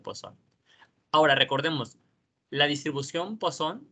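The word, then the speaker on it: Poisson: uno aquí esposo by le digo poison pero si lo correcto esposo no sé muy bien porque no sé de dónde sea él no sé de qué país a esta persona pero según se pronuncia posa ahora recordemos la distribución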